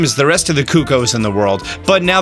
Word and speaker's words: Cuccos: These Cuccos, by the way, that's the proper way to say it, it's Italian.